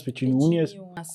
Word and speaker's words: Petiniunas: Eu sou testemunha e raramente eu acerto, você tem que olhar no seu LinkedIn, se é Petiniunas. Petiniunas.